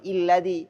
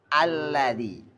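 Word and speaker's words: الذي: Enggak boleh muli I, enggak boleh illadzi, harus alladzi.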